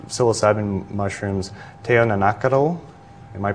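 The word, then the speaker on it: teonanácatl: The Aztecs called psilocybin mushrooms teonanacatl. Am I pronouncing that right?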